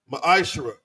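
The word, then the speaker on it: מעשר: In the Hebrew, it's pronounced maishara.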